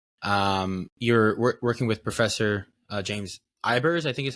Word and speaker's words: Ibers: You're working with Professor James Ibers, I think is how you pronounce it.